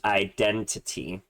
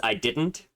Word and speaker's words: idntt: So the next song that we have is BOYtude by, I believe it's pronounced Identity. I thought it was I didn't, but I believe someone online was saying it's Identity.